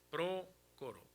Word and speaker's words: Prócoro: Pármenas, creo yo, como no tiene, mire, prócoro tiene acento porque es una palabra esdrújula, es prócoro.